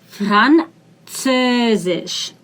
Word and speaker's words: Französisch: Französisch. This is C. Französisch. This is Z. This is Sh.